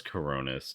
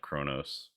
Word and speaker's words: Coronis: Oh, it was Coronis, not Kronos.